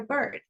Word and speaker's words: bird: Entonces, si yo ignoro la la i en la palabra bird, ¿qué queda? Bird.